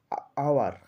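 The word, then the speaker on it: hour: আবার 2 নম্বরে, 1 নম্বরে দেখো, 2 নম্বরে একইভাবে আওয়ার, এইচ ও ইউআর, এইচটা consonant, কিন্তু মুখে বলছি আওয়ার, আ দিয়ে শুরু হচ্ছে, ওয়ার্ডটির শুরুতে হচ্ছে আ সাউন্ড।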